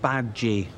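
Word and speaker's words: Badguy: villain of the movie Dominic bad-guy pronounced babji it's French and while on-screen he is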